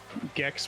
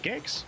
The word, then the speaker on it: Gex: gex right is it gex must be gex gex doesn't sound right dingo I know you you can't actually talk to me so is it one for gex or two for J hard g j not J hard